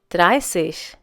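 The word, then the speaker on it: dreißig: the next number is try safe once again try safe please note the difference in the pronunciation slant safe try safe in dry see the beta has the sound of a double s now just like 21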